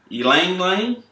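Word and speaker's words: ylang-ylang: relax massage oils with sweet orange ginger and ylang lying what yo money you said it right yeah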